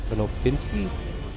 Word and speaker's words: Konopinski: Herbert York, and Emil Konopinski, I think that's how I say his name, spelled K-O-N-O-P-I-N-S-K-I, if you want to look him up.